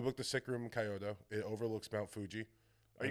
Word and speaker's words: Kyoto: We booked this sick room in Tokyo in Kyoto where it like overlooks Mount Fuji. Can you pronounce it correctly, please? Kyoto. Coyoto. I'm not doing that. Why? That's how they say it.